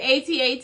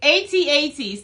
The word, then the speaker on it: AT-AT: I pronounce similar to the phone store, so like AT&T. So am I saying it? Forget it. Just forget it. AT-AT.